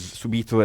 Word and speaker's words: subito: And you say it with the accent on the U, because subito is a completely different thing.